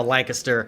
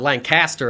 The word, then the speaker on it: Lancaster: A lot of states have a Lancaster, but they call it Lancaster a lot of times, but people hear it's Lancaster, like it's a I in there or something.